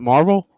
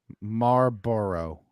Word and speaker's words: Marlboro: the marble Mar how do you say that Marvel the cigarette tomorrow Marlboro Marlboro oh bro that doesn't work for my